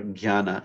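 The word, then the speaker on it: jñāna: The J-N-A, this J-N sound is, in kind of modern use, is mostly like a gya sound. If you get some real Sanskrit scholars, they might do it a little bit of a hard J, but generally for people to understand you, it's jnani or jnana is a, if it's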